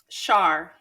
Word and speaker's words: Char: Is it pronounced Char or Char? Char.